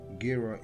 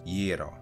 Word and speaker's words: gyro: popular across the world including in the u.s gira is one of the most consistently mispronounced foods on the planet it is a